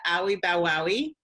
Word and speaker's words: Owie Bow Wowie: You are the founder of Owie Bow Wowie.